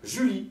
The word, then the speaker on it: Julie: Exemple, Julie. Julie, c'est le prénom comme Yulia en russe. Julie, puis on le verrait écrit derrière, le E ne se prononce pas.